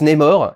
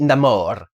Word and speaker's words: Namor: Les Américains prononcent Namor, et lui, comme il est latin, il dit Namor. Donc c'est formé du mot ne pas avoir d'amour, sin amor. Donc c'est Namor. Namor, si tu le prononces à l'américaine. Les Françaises diront probablement Namor.